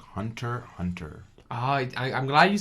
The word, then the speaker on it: Hunter x Hunter: you introduced me to a shonen series called Hunter x Hunter. I'm glad you say the proper pronunciation of that now, because a lot of people go with Hunter x Hunter.